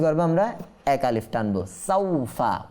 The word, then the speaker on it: سوف: كلا سوف تعلمون كلا سوف تعلمون كلا লা এটা কি করব আমরা এক আলিফ টানবো, সাউফা ওয়াও সাকিন পূর্বে জবর আসছে, অর্থাৎ এখানে লিন হওয়ার কারণে টানবো না, কাল্লা সাউফা।